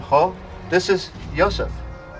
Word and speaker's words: Yosef: It's usually pronounced ha, but in Hellenic Hebrew it tends toward the O sound, ho. This is Yosef.